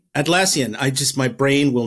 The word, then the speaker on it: Atlassian: and uh I cannot pronounce Atlantis Atlas you pronounce it for me Kevin atlassian atlassian I just my brain will not process that